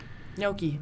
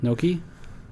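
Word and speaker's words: gnocchi: outside how do you g-n-o-c no h i Noki Noki thank you I saw the soul leave his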